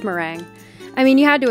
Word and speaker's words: Merengue: It's actually spelled Merengue, and I called her Merengue for the longest time. But apparently it's pronounced meringue.